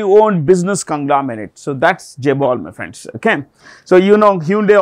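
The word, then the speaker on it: chaebol: It is written with a C. It is pronounced with a J. Okay? Jabol.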